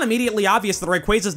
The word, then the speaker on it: Rayquaza: This guy's official pronunciation is Rayquaza, but a lot of people say Rayquaza instead.